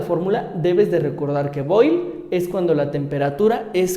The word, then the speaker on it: Boyle: Ahora, tenemos todas estas leyes, comenzando con la ley de Boyle, así se pronuncia, ley de Boyle.